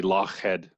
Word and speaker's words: Lochhead: The correct sort of Scottish pronunciation would be Lochhead, as in head of the lake, head of the loch.